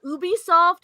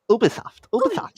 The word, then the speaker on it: Ubisoft: i i like to i like to pronounce it ubi ubisoft it's like it's like it's like so obi-wan rtk responded booby soft